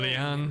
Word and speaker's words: Liang: Liang is pronounced as one syllable rather than two.